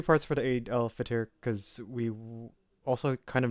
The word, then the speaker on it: Eid al-Fitr: How do you pronounce this? Eid al-Fitr.